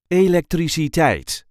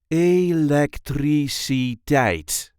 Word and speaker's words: elektriciteit: This is the way we say electricite. Electricate. There is a light emphasis on the last syllable. Electricate. A le three c tight. A electric tight.